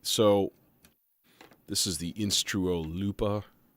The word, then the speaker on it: Lupa: this is the instrument Lupa they just say it's pronounced Looper and I'm like okay